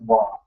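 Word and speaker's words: は: So you're going to have a subject, and you're going to have your subject marker, which is actually ha, but it's pronounced wa.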